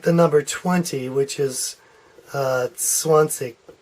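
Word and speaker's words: zwanzig: 20 which is Swansea there's two ways to pronounce that in it depends on where you are in Germany it's regionalism but you'll hear at the Swan seek Swan seek where the K sounds that's perhaps a little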